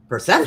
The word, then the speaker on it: Persephone: Persephone. Stephanie. Oh, I've heard that before. Okay. That does not look like it's spelled at all.